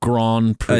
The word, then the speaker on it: Grand Prix: That's not how you say Grand Prix. It's a long O, a long A that sounds like an O. Grand Prix.